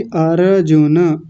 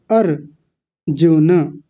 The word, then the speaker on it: अर्जुन: विनायक जी ने एक सबसे बड़ी गलती की थी, अर्जुन। र को पूरा कर रहे हैं, जबकि र तो आधा है, ये रहा ऊपर अर्जुन। और आयुष जी क्या बोल रहे थे? अर्जुन।